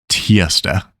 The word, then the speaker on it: tirsdag: Let's go through each one of them and pronounce them very slowly. First up is mandag, mandag. Tirsdag, tirsdag.